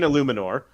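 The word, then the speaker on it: Eluemunor: It's Jermaine Illuminor. Illuminor, yeah. Is that really how it's pronounced, or are you just guessing?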